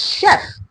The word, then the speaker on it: chef: India the word um chef is a French word and I always um I feel like when I see people say chef especially my Nigerian brothers it's a French word it's chef you know and the